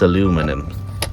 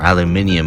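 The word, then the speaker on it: aluminium: That's aluminum or aluminum as it's properly pronounced.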